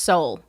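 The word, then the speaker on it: Seoul: to munch on Sonic Ice um oh it's pronounced Soul okay uh uh gibli yes all of them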